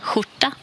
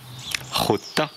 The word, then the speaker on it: skjorta: Donc imaginez qu'on remplace SJ, STJ ou SKJ par R. Huta. Et ensuite, ajoutez ce fameux H devant. Huta. Et vous avez... Bah, la bonne prononciation, ça là. Huta. Oui. Huta. Huta. Et c'est un O court.